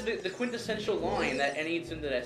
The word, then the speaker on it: tsundere: It's a Japanese syllable. Okay. Sindade? Tsundere. Sundade. De? De. Sundade? With R. Like you roll your R basically.